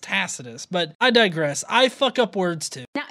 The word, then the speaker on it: Tacitus: If you've done any kind of research or watch any kind of material on this, you would know that it's pronounced Tacitus.